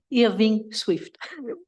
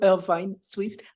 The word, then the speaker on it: Irving Swift: Irving Swift. I am not Irvine Swift. I am Irving Swift.